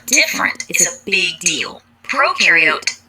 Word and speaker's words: prokaryote: Prokaryote, the pro rhymes with no.